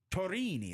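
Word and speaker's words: Tourigny: it was an interesting coach from Coach Andre Torini, as Tara tells me it's pronounced correctly. Yes. As a lot of people botch his name, but Andre I don't want to. Torini.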